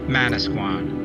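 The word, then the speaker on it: Manasquan: point at the top the english pronunciation would become manusquan this is where henry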